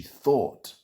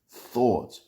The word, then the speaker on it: thought: She thought. Irregular past simple of the verb to think. Thought pronunciation is a th sound. And then like bought. Thought.